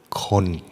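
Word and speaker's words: คน: In Thailand, people or human is pronounced as the word kon.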